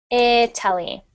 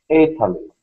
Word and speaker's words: Italy: Not E, but I. Italy. Italy. Italy.